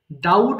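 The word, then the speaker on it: doubt: করা ডাবল ডাবলড ডাবলড ডাউট সন্দেহ করা এখানে আবার বি এর উচ্চারণ হবে না বি হচ্ছে সাইলেন্ট লেটার তাহলে একটু বলতে হবে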